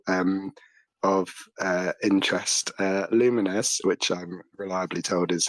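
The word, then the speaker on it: Lumines: Uh, Luminous, which I'm reliably told is how you pronounce it, Arise.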